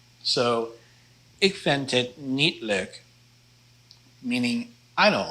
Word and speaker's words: leuk: Ik vind het leuk. Ik vind het leuk. The EU blend there is kind of a hard one to pronounce, but it's an O sound, leuk.